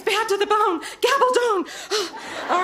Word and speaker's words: Gabaldon: I'm going to mispronounce it. It's bad to the bone. Gabaldon.